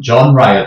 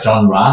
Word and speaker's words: genre: 근데 영어식 발음은 genre예요. genre.